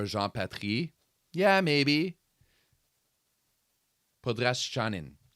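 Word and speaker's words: Podraščanin: Podraschanin. That's how you're supposed to pronounce it. That is apparently the good pronunciation for Podraschanin.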